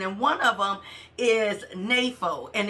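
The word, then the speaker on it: νήφω: the New Testament, and one of them is napho, and it's spelled N-E-P-H-O.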